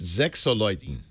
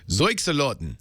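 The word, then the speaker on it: Sechseläuten: Yeah, it should say win tickets, but pronounced Sechseleuten.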